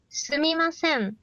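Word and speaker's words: すみません: Sumimasen. Su. Mi. Ma. Se. Sumimasen.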